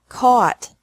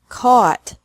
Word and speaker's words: caught: buy bought bought catch caught caught fight fought fought seek sought sought thought teach taught taught think thought thought remember that the g is silent in these verbs verbs with three different